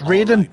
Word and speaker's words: Raiden: snake just a precaution you are now designated Ryden it's pronounced Raiden that's always bugged me